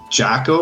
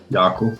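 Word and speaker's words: Jako: Sasha, is it pronounced Jacko or Yako in Yako? Yako.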